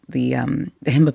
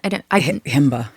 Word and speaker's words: Himba: And we were able to randomly, not a part of the schedule, meet the Himba people. Okay. Wait, say that again. Himba. Himba. Okay, I'm pronouncing that.